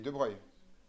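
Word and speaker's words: de Broglie: Vous connaissez Debreuil ? La relation de D de Breuil. Vous avez vu ça en mécanique quantique quand même à un moment donné ou un autre. Ça s'écrit de Brogly et Wigens le modèle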